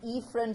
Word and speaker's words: efferent: motor or efferent division I always like to pronounce it as afferent and efferent so that you don't may make a mistake between the are and the e okay so as oh if